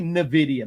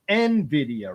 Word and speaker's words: Nvidia: Um, I always say Nvidia, but it's Nvidia, right?